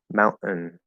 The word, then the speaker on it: mountain: But for whatever reason, it's also possible to say like mountain, mountain, mountain, where there's this little schwa sound. And that little schwa sound can be so small, anywhere between like all the way up to that fully closed where there is no extra little syllable there, just an N sound.